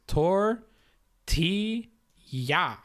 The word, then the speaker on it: tortilla: So you just break it up by its syllables. Tor, ti, ya.